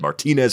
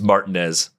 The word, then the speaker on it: Martinez: Shout out to the Cespitus Barbecue guys for that pronunciation. I would have said Martinez for sure. It's Martinez.